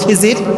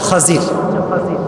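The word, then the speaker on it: خضر: তার নাম কি খাদিজির আমরা বলি খিজির তবে এটার আসল উচ্চ নাম হচ্ছে খাদিজির উচ্চারণটা আসলে কি খাদির খাদিজির মানে হচ্ছে সবুজ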